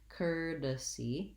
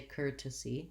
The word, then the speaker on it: courtesy: to get this correctly courtesy courtesy this i do hear this as a flap or as a regular aspirated t so you can say courtesy courtesy oftentimes because it's between two vowels americans will use that more as a light d or a flap t sound courtesy curtis and